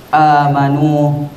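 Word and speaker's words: آمَنُوا: ini, yaitu pada kalimat amanu. Di situ hadirin sekalian, cara membacanya dibaca panjang selama 2 harokat.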